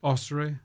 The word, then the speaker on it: Ossory: right up to your appointment as Bishop of Ossory. You pronounce it differently. How do you pronounce it? Ossory.